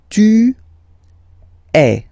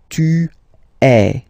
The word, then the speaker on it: tu es: And for tu, then you've got this combination of letters, okay, but then basically the sound you will pronounce or you will produce is e, okay, tu es, all right, je suis,